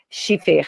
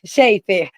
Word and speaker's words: Shefer: Ricardo Cheffer Chiffer, sempre pronuncia seu nome errado. Ricardo é Shefer.